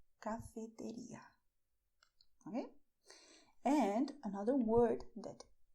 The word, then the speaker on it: cafetería: So do not pronounce it the English way. Pronounce it the Spanish way, which is cafeteria. Cafeteria.